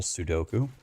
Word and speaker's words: Sudoku: we do an evil Sudoku SE paku no no no it's pronounced sud Sudoku trust me I'm a professional what's